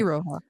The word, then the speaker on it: Iroha: Meanwhile, we have Iroha, Iroha? Mhm. Iroha? Okay. Iroha. I know is it looks like it's spelled Iro, but it's yeah.